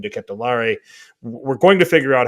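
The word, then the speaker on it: De Ketelaere: for charles de catalar now i say decay to lar only because that's what i heard it from just belgian league highlights and listening to how they were pronouncing it and i did the paramount plus guys are calling him diquet de lare we're going to figure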